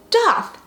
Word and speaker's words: daith: like oh my god it's pronounced dog don't you know anything so then i would start pronouncing it like doth and then people would come back into the comments so then that's how me pronouncing both ways was born you can blame the